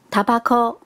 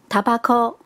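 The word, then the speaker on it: タバコ: 香烟是念作 tabako， tabako。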